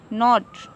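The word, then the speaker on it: knot: आया है, तो ये के हमारा क्या रहेगा, साइलेंट रहेगा। तो इसको क्या पड़ जाएगा, नो पड़ जाएगा, नॉट, और इसको नॉक पड़ जाएगा।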